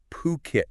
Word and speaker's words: Phuket: estate agency been operating in and get this pronunciation right pukit that's how you say fukit since 2004 buiit